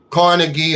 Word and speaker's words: Carnegie: so little in school Andrew Carnegie or carnegi however you want to pronounce it say if we